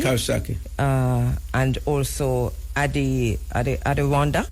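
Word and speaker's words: Coxsackie: And then C O X S A C K I E. Kosaki.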